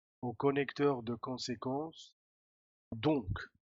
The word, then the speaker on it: donc: au conector de conséquence donc. Ahora aquí sí que llegamos a pronunciar k, donc, y este dans, la